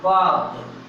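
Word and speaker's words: balked: तो बनाएंगे बाग्ड और बाग्ड। एल जो होगा साइलेंट होगा, इसलिए हम इसको पढ़ेंगे बाग्ड, एल को नहीं पढ़ते हैं, ठीक है ना।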